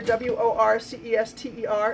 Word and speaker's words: Worcester: but I know that this word right here w-o-r-c-e-s-t-e-r is pronounced Worcester because even though it doesn't look